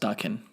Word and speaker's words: Daken: No, it's pronounced Daken.